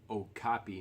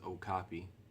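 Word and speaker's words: Okapi: so I did a little research on this Oh copy knife that's how you pronounce it is Oh copy it's a knife you know as used by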